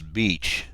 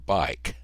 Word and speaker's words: BEIC: funny side note here I've always pronounced this beach pilot to ATC wants to call it bike well this is important in real life because controllers and Pilots alike always try to pronounce these intersection and approach waypoints so I'm going to try to learn to say bike and this is actually